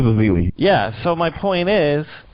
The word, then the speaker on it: Ezeli: point is they had Festus Ezeli, or whatever, how you pronounce his name. He came in and played good. So no, you got it right. Yeah, it is Ezeli.